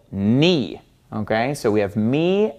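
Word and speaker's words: νι: me and knee knee looks just like an English lowercase V okay so when you're reading something in Greek and you see this letter you're gonna want to pronounce it like a V sound but it doesn't make a V sound it makes an N sound this is knee knee so you got to get used to pronouncing this as an N me this letter makes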